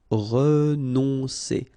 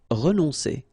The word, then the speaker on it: renoncer: Okay, O and N together. On, renoncer. Renoncer.